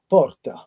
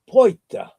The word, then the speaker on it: porta: The word for door is porta, porta. If you go to Palermo, they will pronounce it poita. You hear it? Different? Poita. Poita. But if you go to Catania, they would say potta. Two T's. The RT, R followed by another consonant becomes double.